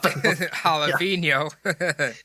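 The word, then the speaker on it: jalapeño: but it's like a y or whatever or jalapeno which is actually olive jalapeno and that is exactly how it's said to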